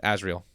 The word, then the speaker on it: Azrael: Azrael.